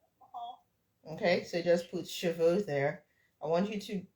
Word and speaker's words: cheveux: So this one is like cheveux. The silent E, the first E here is that silent E that we don't open our mouths to say.